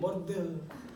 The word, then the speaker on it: Bordeaux: So you gotta say it like that, Bordeaux.